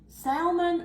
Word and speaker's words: salmon: Salmon or salmon? Which one is Not it? salmon. It is No, not salmon. that's what I The L is silent. Salmon.